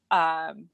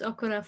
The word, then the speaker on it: Okorafor: I would also recommend Nnedi, Okorafor. Oh, I'm mispronouncing her last name. Shoot, hold on one second. No, I do think you're saying it right. I think it is Okorafor.